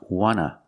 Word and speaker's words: want to: Also remember, want to can be pronounced wanna with no T in it.